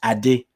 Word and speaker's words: Ade: with my name there are many variations there's and i i often joke but it's true i don't even say my name correctly but it's not that i don't say correctly i say in the way that makes it easier um for people in the western world to be able to say it because my right the correct pronunciation is adi i did so which